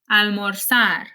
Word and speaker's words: almorzar: I'm not saying empezar, it's empezar. It's not cruzar, it's cruzar, almorzar, organizar. It actually sounds a lot more like an S in English than a Z.